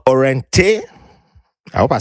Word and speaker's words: Orene: She has a product that she's launching or has launched called Orene. I hope I said it right. Yes, Orene.